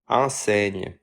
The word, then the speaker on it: enseigne: You might have noticed from its spelling that it rhymes with éteigne, and its pronunciation can be approximated as. enseigne.